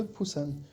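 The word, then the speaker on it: 부산: c'est la ville de pousan pousan en français on peut la retrouver écrit avec un B ou un P mais gardez bien l'idée qu'en coréen c'est la même chose et c'est toujours cette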